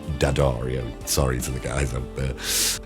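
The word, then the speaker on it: D'Addario: Diodario. Um, I always pronounced that wrong. Dadario, sorry to the guys.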